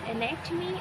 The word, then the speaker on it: anatomy: ठीक है, अब हमारे पास एनेटमी और एनाटॉमी दोनों प्रोनाउंसिएशंस हैं, जिसके हमारे पास बेसिकली जो डेफिनेशन